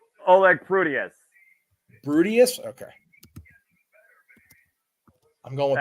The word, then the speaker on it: Prudius: Oleg Prudius.